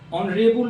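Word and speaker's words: honourable: our time देखते जाइए एच इसको हम ओ बोल रहे हैं vowel sound N ऑनरेबल मैन एक सम्मानीय व्यक्ति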